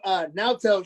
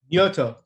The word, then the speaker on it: Naoto: I actually, there's a video, Naoto, shout out to Naoto, our Japanese tour manager. Yoto. It's Naoto.